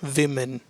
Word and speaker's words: women: women will be women do remember we have to pronounce this as women the next one is